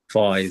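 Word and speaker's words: فائزين: لہذا ہمیں تلفظ میں اس بات کا خیال رکھنا. یا علی انتا وشیتک هم الفائزین، سبحان اللہ. فائزین، فائزین.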